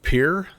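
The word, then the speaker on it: Pierre: it's uh it's pronounced Pier in South Dakota they actually don't call it the French pronunciation it's kind of like the pier like you go to the dock so anyway just so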